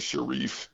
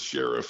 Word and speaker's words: Sharif: But it starts with Fode, and it's Fode Sharif. I get that every game. The little old guy at the scores table always wants to know how to pronounce it. And a lot of times he just goes as Sheriff, and he just he goes with it.